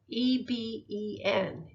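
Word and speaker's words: אבן: The word stone in Hebrew is spelled E-B-E-N, Eben.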